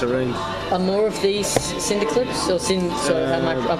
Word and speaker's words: Synaptaclipse: Now, how do I pronounce this? Synaptaclipse. Synaptaclipse.